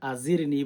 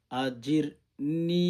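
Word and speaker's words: أجرني: আল্লাহুম্মা আজিরনি মিনানার শুদ্ধ করে আল্লাহুম্মা অনেকে আছেন এখানে আজিরনি বলেন আজিরনি আজিরনি জিম উচ্চারণ করতে হবে। আল্লাহুম্মা আজিরনি মিনান্নার শুদ্ধ করে আল্লাহুম্মা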